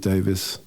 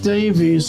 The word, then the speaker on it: Davies: Well, amazingly, just to clear this up, Dave and Ray actually pronounce it in opposite ways. How strange is that? Here's Ry pronouncing his surname. My brother Dave Davis was 15 when we signed our first recording agreement.